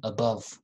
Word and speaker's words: above: above above above okay above the first sound is schwa above and then country country